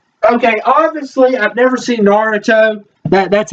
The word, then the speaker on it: Naruto: Okay, obviously, I've never seen Naruto. That's how you pronounce it.